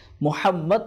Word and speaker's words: মোহাম্মদ: নাম মোহাম্মদ বর্ণিত রয়েছে মোহাম্মদ শব্দ উচ্চারণ করার সময় বলার সময় দুই ঠোঁট লেগে যায় তো এটার তফসীর করতে